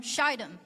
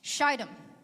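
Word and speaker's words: Shittim: two men secretly from sheidom that's a long eye if you tell anybody about the sermon later make sure you pronounce it right shitem as spies and saying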